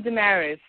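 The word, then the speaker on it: Damaris: well I'm sorry what's your name oh I'm dearis sister dearis sorry how you spell it d a m a r i s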